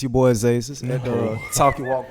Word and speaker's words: Azazus: It's your boy Azazus at the Talk Your Walk podcast.